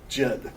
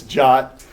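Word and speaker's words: JWT: so way I always I only say one to say jit but it's jot is the proper way to pronounce that um and and basically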